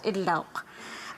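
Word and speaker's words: Idlout: I take this opportunity to share the meaning of my surname, Idlaut, pronounced in Inuktitut as Idlauk.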